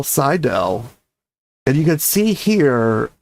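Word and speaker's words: Seydel: Sidell, George." So, I think his name was probably pronounced Jurgen, but I think that translates to George in English and that he musled him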